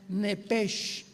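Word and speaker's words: נפש: Apunten por favor que trajeron su Biblia arriba de la palabra alma, la palabra hebrea nepesh, como suena n de nana, e de Enrique, p de Enrique, e de Enrique, SH, como suena nepesh.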